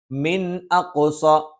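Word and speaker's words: مِنْ أَقْصَى: വജാഅ മിൻ അഖ്സ, സുക്കൂനുള്ള നൂനിന് ശേഷം ഹംസ് വന്നു, വ്യക്തമായി ഉച്ചരിക്കണം, അല്ലാതെ മിൻ അഖ്സ എന്നൊന്നും ഉച്ചരിക്കാൻ പാടുള്ളതല്ല. മറിച്ച് മിൻ അഖ്സൽ മദീനതി റജുലുൻ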